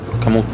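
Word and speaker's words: Kamut: Camut. Camut. Non lo conosci? Sì, non mi ricordavo la pronuncia.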